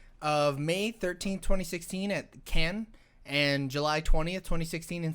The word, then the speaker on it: Cannes: that's like that's the cannons film festival cannons film festival it's yeah can but it's canon's film festival no it's it's can though you're saying it wrong it was it was